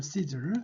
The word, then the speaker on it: Caesar: 자, 황제 아구스토인데 황제를 카이사라고 하는데 이제 Caesar, 영어 발음은 Caesar죠. Caesar.